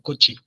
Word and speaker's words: cochi: En este caso lo vamos a pronunciar con i porque como les decía ya no está en posición final, así que ya no es coche, sino cochi.